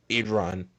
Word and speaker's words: Iran: Iran.